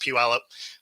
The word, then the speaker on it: Puyallup: So that's pronounced Puyallup.